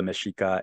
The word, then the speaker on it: Mexica: to referred to the Spanish conquest of the meshika in 1521 as the quote conquest of Mexico